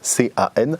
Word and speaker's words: Can: Ça s'écrit, son prénom il s'écrit Can, C-A-N. En fait, ça se prononce Can Dündar, et il est turc, et c'est un très grand journaliste.